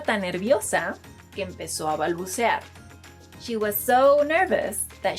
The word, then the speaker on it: balbucear: Another verb is, no, this verb is not pronounced balbucear, it's pronounced balbucear, and it means to stutter, which is what I do whenever I'm recording videos for Spring Spanish.